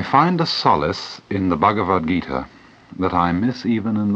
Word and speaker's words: Bhagavad Gita: following words I find the solace in the bhagavad-gita that I miss even in The Sermon on